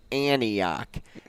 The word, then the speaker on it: Antioch: um Antioch is how so you don't say the T it's Antioch uh but it's it's